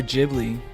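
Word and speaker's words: Ghibli: G is with a soft G or jibli is jibli the soft G is is jly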